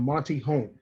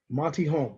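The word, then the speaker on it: Monte Holm: written by a gentleman by the name of monty holm yes his first name is spelled m-o-n-t-e last name is home h-o-l-m monty home okay monte home uh has established himself in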